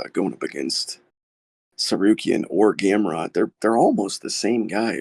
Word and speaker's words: Gamrot: Now, I must correct you guys on your pronunciation, because I'm a bit of a Polish name authority around here. The first name is Mateusz Gamrot.